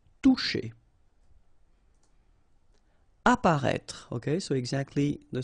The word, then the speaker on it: toucher: Okay, remember you combine this O and U, you get the sound OU, and then C and H, sh. Toucher.